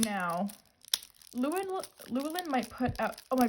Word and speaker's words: Llewellyn: It's Llewellyn, and my brain always wants to say Llewellyn. I have no idea where I got that from, but it's Llewellyn.